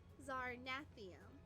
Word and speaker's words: Zarnathium: Plus, the second is more like at. And the first there's okay. First and third syllables you got right. Okay. Second name is more like at. Oh, like at.